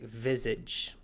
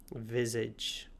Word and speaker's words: visage: Viz comes from the French word viz which we still use in French meaning face but in English we pronounce it visage. Visage but the visage has to do with the face.